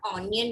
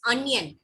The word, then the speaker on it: onion: It is not onion, beta. It is onion. उसको o pronounce नहीं करते, a pronounce करते हैं.